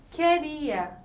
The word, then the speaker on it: queria: Queria, ó, o QU ele forma um dígrafo, porque a letra U não é pronunciada.